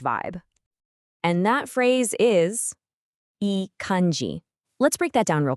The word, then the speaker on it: いい感じ: And that phrase is eanji. Let's break that down real quick. It's pronounced eanji.